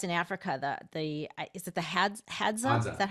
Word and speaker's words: Hadza: Is it the Hadza? Is that how you say it? Hadza.